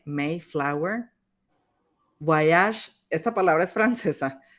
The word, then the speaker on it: Mayflower: Mayflower, como si tuviera una E, Mayflower.